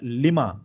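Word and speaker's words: Lima: double E, so that अगर एल का मतलब लीमा होता है प्रोनाउंसिएशन में, तो हम इसको लिमा नहीं पढ़ेंगे, ठीक है।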